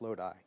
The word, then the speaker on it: Lodi: to me it uh Lodi or Lodi I believe it's pronounced Lodi this is where if